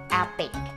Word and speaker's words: Epoch: Seperti kita tahu namanya adalah Epic Polishing Bar ya. tulisannya tuh epoch ya, bacanya epic, oke?